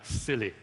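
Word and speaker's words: SIYLI: yourself Leadership Institute and it's pronounced as silly so guess silly and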